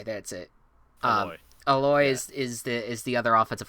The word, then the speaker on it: Aloy: I always forget how to pronounce this one. Who? Aloy. That's it. Aloy.